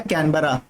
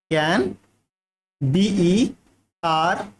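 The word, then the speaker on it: Canberra: और अगर ऑस्ट्रेलिया की कोई कैपिटल बोले तो वो ये है, ठीक, ऑस्ट्रेलिया की कैपिटल क्या है, कैनबरा, ठीक है, कैन BERRA, कैनबरा, ठीक।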